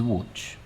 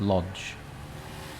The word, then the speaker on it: Łódź: This is Łódź. Some people pronounce it Lodge.